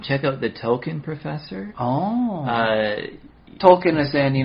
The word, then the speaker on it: Tolkien: I guess it should be Tolkien. I don't know if you pronounce the L too much.